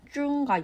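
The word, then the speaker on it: 钟: 첫 번째로 개종식의 탁상식의 종은 모두 쭝이라는 발음이 납니다. 이 발음은 끝나다라는 단어의 발음인 쭝과 유사해서 부정적인 선물로 여겨지곤 합니다.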